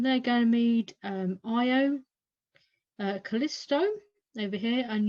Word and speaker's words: Io: says they're very volcanic because IO it's not yellow it's IO this is pronounced uh they're all named after um dear